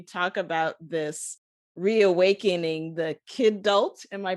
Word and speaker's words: kidult: And I know that in your work, you talk about this reawakening the kidult. Am I pronouncing that Yeah, the kidult.